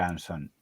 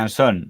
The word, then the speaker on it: Anson: Sí pero entiende que todo el mundo lo pronuncie onson Aunque supongo que en honor a la etimología habría que decir Luis María anson y Rafael anson pero es algo que